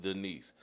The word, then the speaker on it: Daniss: Yeah, I saw the spelling, but it's pronounced Denise.